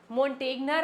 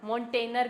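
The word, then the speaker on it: Montagnier: फिर जो मॉनटेगनर आए ना मॉनटेनर भी बोलते हैं। मॉन्टेगनर जो भी है ना आप उनको प्रोनाउंस करना चाहो। उन्होंने सबसे पहले बताया था कि डिजीज फंगल नहीं है।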